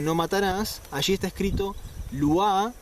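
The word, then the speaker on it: לא: se te dice no matarás Allí está escrito Lu o lo como suelen pronunciarlo en la actualidad terrat Y esa palabra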